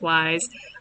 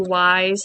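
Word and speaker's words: Wwise: It's intentionally with 2 W's. I think it's just pronounced Wise.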